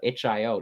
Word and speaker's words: itch.io: HIO, that's how you say it, right?